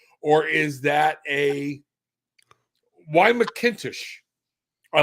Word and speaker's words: McIntosh: in taste the girl and my name mckintish um you can find it on amazon uk